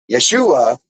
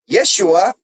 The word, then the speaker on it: Yeshua: So Yeshua is God is with us. It's really like the pronunciation of Joshua.